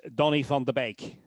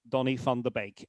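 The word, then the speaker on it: Donny van de Beek: Uh well the way he pronounces his name is Donny Fond the bake. Donny Fond the bake. And again the the V in Dutch has a little F sound.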